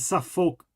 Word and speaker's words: Suffolk: Because it's a Suffolk story. See what I did there? It's spelled that way, but it is Suffolk.